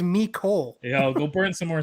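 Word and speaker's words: Mecole: eagles uh mikhail hardman miko yeah wow i just correct the way i pronounced the french name it's me it's not french his name is me cole yo go burn some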